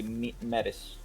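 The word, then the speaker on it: Métis: I mean, yeah, that's why I don't say medis, I say metis.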